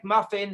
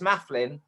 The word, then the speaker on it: Mafflin: You know, I go to places and they say, hello, is Muffin here? And I say, no, it's Mafflin.